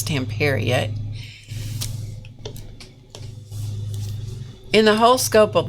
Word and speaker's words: Stamperia: They insisted that it was Stamperia. Now, whether you say Stamperia or Stamperia, which my understanding is that it's Stamperia, in the whole scope of life, it really doesn't matter.